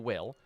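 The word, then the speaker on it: Wyl: Granted, it's spelled W-Y-L, but it's still Will.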